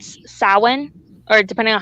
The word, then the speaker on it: Samhain: around the day called saman or depending on how you Samhain like it's about si ma che i n pronounced Alwyn or Samhain or so many different ways of pronouncing it and then some